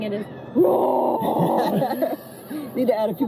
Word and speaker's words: RØRE: So it's pronounced RØRE. RØRE, but any American that looks at it is gonna read Roar. Yeah. So, and The way I've been saying it is RØRE.